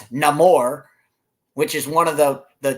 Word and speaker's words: Namor: And they eviscerate and from what I've read about and I can't pronounce it because I can't roll my R's, but it's Namor. Instead of Namor, it's Namor, which is one of the changes that everybody had to make.